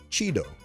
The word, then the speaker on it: chido: Today's word is Cheeto. Cheeto. Oh, like a Cheeto? Chips? No, or Cheetah. Oh, or that too. Yeah, it's spelled Chido.